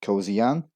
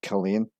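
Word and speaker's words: Culzean: This castle looks over the Firth of Clyde and is often mispronounced as Kilzean or Kilzean. It's actually pronounced as Killane with a silent Z.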